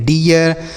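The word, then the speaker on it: deer: तो डी से पढ़ेंगे आपका ड और डबल ई का उच्चारण इ तो ये हो गया डी आर से र इसे पढ़ेंगे डियर सी H double E आर इसे हम पढ़ेंगे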